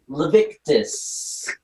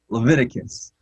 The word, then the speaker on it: Leviticus: said that we shouldn't eat owls in levitic levictis hopefully our pellets are okay georgie i think you're okay there uh and and you're really close that book of the bible is actually pronounced leviticus um and yeah you make a good point